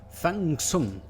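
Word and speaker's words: 放: and most chiun books in Mandarin pronunciate iation it's Fang and in cantones it is f in the written Chinese characters both Fang and Fung are the same it is the pronunciation that is different but most readers just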